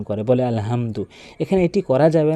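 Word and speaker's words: الحمد: আলহামদু। এখানে আসলে মারাত্মক লেভেলের ভুল এটি যে বড় হার জায়গাতে ছোট হাইনে উচ্চারণ করে। বলে আলহামদু।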